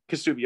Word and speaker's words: Kisubi: kasoopa excuse me um is it kisu or kisubi kasumi kasubi okay and she also offers